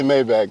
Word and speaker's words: Maybach: Maybach was is it I say myb I say mayback though right I say mayback cuz they look we from we from Georgia man we from South we say mayback look hey on he